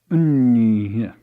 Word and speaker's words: Nguyen: It is properly pronounced Unh, effectively 3 syllables, the final H's being as plosive as possible, if you can imagine that.